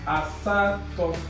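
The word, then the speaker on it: asatọ: So 8 is asato. Asato. Asato. So 9, right, is pronounced as itolu, itete, itenane.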